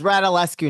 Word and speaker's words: Radulescu: Today's guest where we have reversed roles is, if I pronounced it correctly. It's Rat Allescu now. Read Alleski.